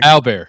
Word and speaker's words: Albert: Albear Roar. That's his name. That's how they pronounce it.